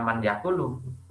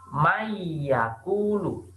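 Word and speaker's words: مَن يَقُولُ: Jadi dibaca mayakulu. Jadi mim di sini seakan-akan kalian langsung masuk membaca huruf ya. Nunnya seakan-akan melebur jadi mayakulu, bukan man yakulu, tapi mayakulu.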